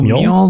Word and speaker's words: Mjoll: They have listed, and again, pronunciations, Mjoll, Mjoll, the Lioness. Oh, Meol the Lioness.